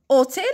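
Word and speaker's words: hôtel: ان اوتيل، اوتيل باش راهي باديه بالاش موي. اش موي معناتها يكتب ولا ينطق، معناتها راني ننطق منها اوتيل، وهاد الاش ما رانيش ننطق فيها.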